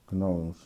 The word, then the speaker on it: gnome: So the G is silent.